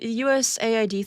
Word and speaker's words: USAID: The USAID thing, I have to force myself to say it properly because a lot of people say it as aid, and then it makes